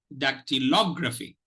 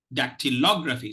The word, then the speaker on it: dactylography: so forget V okay so listen to the uh to the pronunciation of this word it's dactylography that tillography ductilography ductilography so if you notice